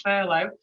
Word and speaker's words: furlough: referred to as furlough which i've heard pronounced a multitude of different ways for luftherlo for long for lou it's fair it's furlough it's a new concept